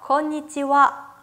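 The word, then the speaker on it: こんにちは: 건 위치와 건 위치와 내 끝에 있는 히라가나 하 발음을 제가 방금 와 라고 읽었죠 인삿말을 발음 하실때 할애 와 라고 발음 해주셔야 된다 그래서 저녁 인사도 건방 와 건방 와 라고 발음 해요 나디 행사와 저녁 인사는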